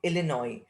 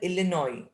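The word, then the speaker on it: Illinois: एंड I wanted 2 tickets टू गैलिसबर्ग इलिनॉय। This is again important. अब Charlie कहाँ के ticket चाहता है अपनी वाइफ और उसके लिए? गैलिसबर्ग, और इसका प्रोनाउंसिएशन होता है इलिनॉय, एस साइलेंट है, इलिनॉय, इलिनॉय।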